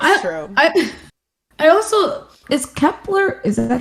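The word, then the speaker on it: Kep1er: I also is Kepler. Is that how you say it? Yeah, Kepler.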